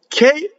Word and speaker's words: che: K, the word K, C-H-E, is hard because of the H. E is a soft vowel, so C-E would be che. So you need the H to make it hard.